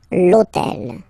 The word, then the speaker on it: hôtel: starts with H, but remember that in French we don't pronounce H, okay, so basically the first sound of the word is the vowel O, okay, so for the